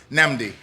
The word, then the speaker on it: Nnamdi: It's called uh Nambdi. Nambdi. Nami. That's a double N AMD diy.